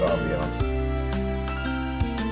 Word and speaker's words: ambiance: I think in that context it's pronounced ambiance.